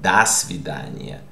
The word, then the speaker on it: до свидания: And you pronounced it not до свидания, but до свидания. So this one is до свидания, because this preposition is linked to the word. Okay, and since this A is stressed, this O is pronounced A.